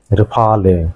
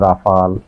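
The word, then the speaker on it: Rafale: পাঁচটি যুদ্ধবিমান নাই খেয়ে ফেলছে এবং কিরকম যুদ্ধবিমান রেফালে ফ্রান্সের ধরে রেফালে যুদ্ধবিমান। প্রিয় দর্শক এই রেফালে শব্দটি বাংলাদেশের যত গণমাধ্যম আছে 99.99 ভাগেই সঠিক উচ্চারণ করতে পারে না। কেউ বলে রাফায়েল, কেউ বলে রাফাল বিভিন্ন আমি এটি যাচাই করেছি।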